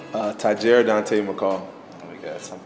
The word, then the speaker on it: Tahjere: how do you say your full name uh tajira Dante McCall if you guys didn't know already